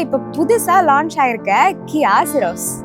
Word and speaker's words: Syros: ஸோ அந்த கார் வேற எதுவுமே இல்லை, இப்போ புதுசா லான்ச் ஆயிருக்க கியா சிரோஸ். SYROS இதோட ப்ரொனவுன்சியேஷனுக்கு நிறைய பேருக்கு நிறைய டவுட் இருந்திருக்கும். ஸோ இது எப்படி கரெக்டா ப்ரொனவுன்ஸ் பண்ணோம் அப்படின்னா சிரோஸ், சிரோஸ்.